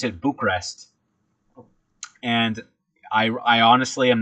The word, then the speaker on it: Bucharest: of people pronounce it Bucharest. So not emphasizing the A in Bucharest. So I decided to pronounce it Bucharest.